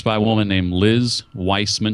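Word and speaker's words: Wiseman: It's by a woman named Liz Weissman. She spells it like wise man, W-I-S-E-M-A-N, but it's pronounced Weissman, I believe.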